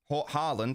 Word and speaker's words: Haaland: Haaland and Haaland are both correct.